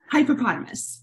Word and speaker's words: Hypepotamus: So I you know, we were talking before we started taping about pronouncing your name correctly, but Hypepotamus. Is it Hypepotamus or Hypepotamus? Hypepotamus.